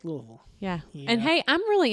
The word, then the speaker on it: Louisville: gracious you're so wrong its Louisville it hangs out deep in your throat with lots of syllables yeah so if you